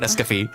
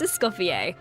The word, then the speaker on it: Escoffier: Look at Escafie. Your turn. Hello, everyone. My name is Emily Cass, and I voice Escoffier. I'm so excited to be Escoffier? here. Oh, that's how you say it.